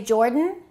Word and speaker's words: Jordan: Did you say Jordan? Jordan. Don't say he is from Jordan.